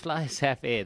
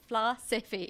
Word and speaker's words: Flysafair: Yes, How do you say it? Flysafair. There you are. Your SA Fair, it's Flysafair.